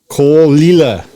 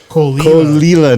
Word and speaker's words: Clynelish: I totally mispronounced Clynelish. Clynelish, not Clynelish.